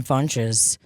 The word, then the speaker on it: Funches: Iran bunches everybody Ron funches that was for you Ron punches rhymes with bunches yeah Ron funches Honey